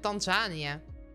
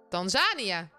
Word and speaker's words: Tanzania: wil volgend jaar en danzania waar ligt danzania eigenlijk klinkt als iets Afrikaans danzania tasania die klemtoon van jou Tanzania Tanzania Tanzania Tanzania oh Hahaha